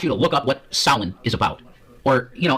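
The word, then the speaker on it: Samhain: I want you to look up what salin is about or you know, as we say it as Americans, San Hayne. S A M H A I N Sam Hayne, but the way you pronounce it is Salin.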